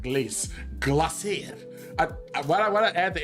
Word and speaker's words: Glace: Just pronounce it with a French accent, Glace.